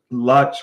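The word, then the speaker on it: LUTs: And Matt, I appreciate your help there with what Lutz was because Lutz rhymes with klutz and I was a klutz on that one.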